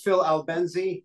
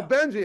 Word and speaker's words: Albenze: Yeah, it's Phil Albenze. Yeah. Albenze. Okay, there's no R in there. That's right. Okay, it's almost like Benzadrill.